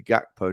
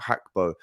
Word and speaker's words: Gakpo: to you it's Cody gakpo not hackbo um it's pronounced with a uh a silent G almost right so if you